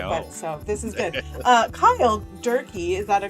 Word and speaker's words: Cyle Durkee: Cyle Durkee, is that a correct pronunciation?